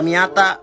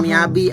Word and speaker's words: Miata: Itu dia punya semua nah, yang ini Mazda Miata, bukan Mazda Miyabi, apalagi mie ayam. Nah, yang ini GTR, bukan GT Man. Ini dibacanya Estilo, bukan Estilo, apalagi Es Mambo.